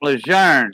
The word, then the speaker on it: Lejeune: It's Camp Lejeune. That's how you say it. It's French. Camp Lejeune.